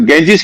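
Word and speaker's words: Ganges: हम्म, जैसे गंगा को अंग्रेजी में गैंजीज कहते हैं, गैंजीज, या गॉर्जस। अब गॉर्जस में पहले जी ग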